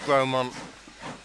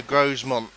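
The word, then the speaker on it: Grosmont: It's pronounced Gromont. See, I would be on the Grosemont team, and I was for ages until somebody told me I was getting it wrong.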